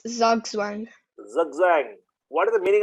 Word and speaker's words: Zugzwang: Who can pronounce this? Zugzwang. So it's Zugzwang.